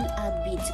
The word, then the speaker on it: habite: Il habite où? H is silent, remember?